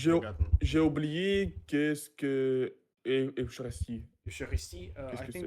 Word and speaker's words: Eucharist: Fractio panis, Latin term meaning a fraction of the bread, a reference to the Eucharisty. Eucharist. Exactly, Eucharist. Eucharist, they pronounced it in English.